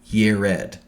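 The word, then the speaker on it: יֶרֶד: Jared is important because the city of Eridu is named, Jared is pronounced in Hebrew, Yered.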